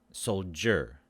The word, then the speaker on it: soldier: so the word pronounced soldier so the d i becomes a j sound soldier soldier soldier otherwise